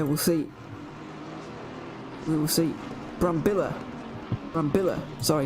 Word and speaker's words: Brambilla: He is Italian, not Spanish. Of course, I was kind of taking the Spanish pronunciation of that, the two L's meaning a kind of a Y sound to make Brambilla, but it's not really. It's a Brambilla.